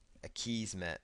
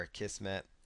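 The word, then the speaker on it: Akismet: there's going to be another plugin here called a keys met or a keys met or a kissm depending on how you want to pronounce it just choose activate but what you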